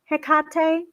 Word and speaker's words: Hecate: um i've i've i've heard it said several ways i usually say hecate i can start to say hekate and sometimes i have